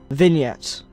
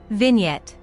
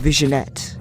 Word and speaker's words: vignette: Vignette. Vignette. Vignette. It's pronounced vignette. It's also a silent G.